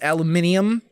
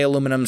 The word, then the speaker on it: aluminium: you think it's aluminium it depends on if you're from the US or the or Europe some people say aluminum some people say alum uh aluminium I'm saying it aluminum because that's how it's spelled uh anyway so I